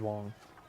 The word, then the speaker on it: Wang: Spelt Wang, said Wong.